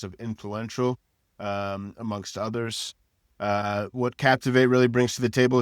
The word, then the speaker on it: Captiv8: Publicis made a $150 million acquisition of Captivate. It's spelled Captiv8.